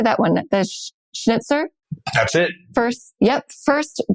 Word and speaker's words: Schnitzer: The Schnitzer.